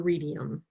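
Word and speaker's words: Readium: MathML support on roadmap for Redium. Did I pronounce that right?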